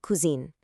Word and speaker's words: cousine: A male cousin is a cousin, but a female cousin, that's a cousine. That little E tacked onto the end actually changes the pronunciation and immediately signals that we're talking about a female relative.